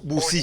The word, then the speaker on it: boussi: Bossi s'écrit comment, monsieur Silla? C'est B-O-2-S-I. Oui. Ou bien B-O-U-2-S-I. Ok, bossi ou bossou? Bossou. Boussi.